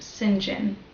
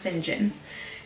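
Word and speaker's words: St. John: like St so like St John but it's pronounced singen I don't know exactly why that's something that I should look at perhaps and share what I find in another video but it's it's pronounced singen and so this person that sees that she's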